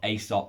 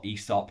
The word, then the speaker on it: Aesop: i love love love asop or esop depends where you live in the world as to how you pronounce it and i actually rated